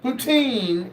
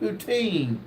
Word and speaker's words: poutine: Uh, James said, "Uh, poutine is French fries with gravy." See, now see, she puts it where I know how to say it. Poutine. Poutine.